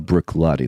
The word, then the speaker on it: Bruichladdich: It's worth staying up for to come on be on the show, you guys, and cracking pronunciation of Bruichladdich there as well.